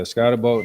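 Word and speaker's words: Skattebo: And Cam Scatbo might also have a good game. L should have a good day. Yeah, Scottbo, that's how you say his name.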